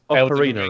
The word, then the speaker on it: Ocarina: Which game has names or terms that would benefit from an audio pronunciation guide? That's a good question. And Pokemons. Pokemon's. So hang on, this is Ocarina, right?